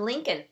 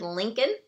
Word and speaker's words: Lincoln: So, here I did tell you you need to learn how to spell that word Lincoln. Okay, it has that tricky little L in there.